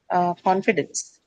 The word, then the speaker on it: confidence: Next one, confidence. Fee. Confidence. Why on fee? Ends is a suffix. Confidence has a suffix.